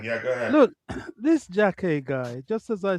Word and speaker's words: Jacquet: Is that how you pronounce it, Dante? Jacquet. Jacquet.